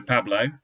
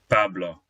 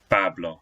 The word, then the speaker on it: Pablo: of the word, so Pablo, but it's Pablo, Pablo. So it's an O sound even at the end of a word.